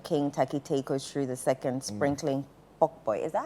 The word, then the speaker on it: pokpoi: of the Gamancha King Takiteko Shri II sprinkling pokpoi. Is that how they pronounce it?